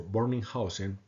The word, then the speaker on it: Bönninghausen: Colombia quiero aclarar que lo pronuncio Burning housen porque es la manera correcta del alemán y quiero dedicar este